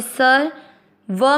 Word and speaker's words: सर्व: सहित समझेंगे पहला चरण स अक्षर पूरा है व के ऊपर आधे र की मात्रा स के साथ करेंगे सर व में अ मिक्स करेंगे सर्व भू बड़ी मात्रा भूतेषु श